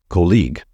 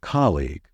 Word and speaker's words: colleague: my years of experience many non-native speakers tend to stress the second syllable and say colleague however the stressed syllable in this word is the first one so it should be pronounced as colleague please be careful with